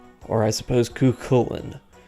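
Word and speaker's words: Cú Chulainn: There's far too many ways that I have heard this name pronounced. I go with Cuchulainn, or Cuchulainn. At this point, I almost feel like it's just a matter of opinion and dialect.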